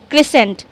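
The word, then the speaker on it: crescent: या ढलान okay then we have क्रिसेंट क्रिसेंट क्रिसेंट बोलते समय भी सी को समझ लीजिए कि यहां पर नहीं है और सी को साइलेंट करते हुए कैसे पढ़ेंगे क्रिसेंट क्रिसेंट मींस अर्धचंद्राकार जो हमारा हाफ मून होता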